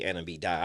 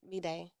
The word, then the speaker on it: B'dai: I used to say Anna B die. I've been saying it wrong this whole damn I time. think a lot of people do. It's B'day.